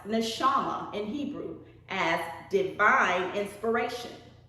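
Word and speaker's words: נשמה: copyright 2003 defined the word breath code 5397 pronounced neshama in hebrew as divine inspiration intellect our breath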